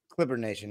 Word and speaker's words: Clipper Nation: Clipper nation is it is it the S do you put the S there do you not put the S there how how what's the right way to say that D Clipper Nation yeah no s no s okay Clipper Nation let's go